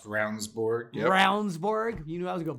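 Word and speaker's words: Ravnsborg: Pronounced Ravensborg.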